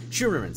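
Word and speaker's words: Scheuermann's: my German pronunciation but shoo our Dutch pronunciation shoo more man's disease it's a condition causes the lower upper back to curve and gives Lucic essentially his hunched-over posture and yeah yeah Sherman's yeah Sherman's there we go there we go thank you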